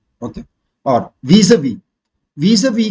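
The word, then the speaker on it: vis-à-vis: और Vs-we, Vs-we का मतलब है इन रिलेशन टू। वीज़-वी कैसे बोल रहा हूँ देखना, वीज़ा-विस नहीं बोल रहा हूँ, वीज़-वी है का मतलब है इन रिलेशन टू।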